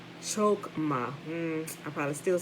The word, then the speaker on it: Chochmah: I say chokma, right? Chokma. I'm sure they say it with a kind of a different type of utterance, right? With like the guttural sound and stuff, but it's spelled choch. Chochmah.